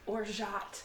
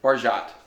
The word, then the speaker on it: orgeat: You pronounce it like orgeat. Orgeat. Orgeat.